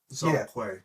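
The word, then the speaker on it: Zhong Kui: Um I'm probably going to butcher this pronunciation. Zongu Zong Coup Zong Quay Zong Quay Zong Quay.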